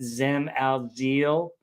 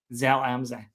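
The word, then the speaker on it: Zell am See: I believe it's pronounced Zem al Zil. We're going to talk about, Sell Amse. Zal Amza.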